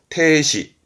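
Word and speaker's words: 停止: 발음은 추시, 추시. 음으로는 시로 갑니다. 중지는 추시. 했던 거 정자입니다. 정진의 스탑, 태시, 태시.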